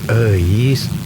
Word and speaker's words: Euis: Eis. Itu tuh nama Sunda, bro, dibacanya Eis.